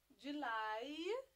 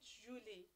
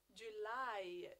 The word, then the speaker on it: July: June June number six July July not Julie Julie July July number seven August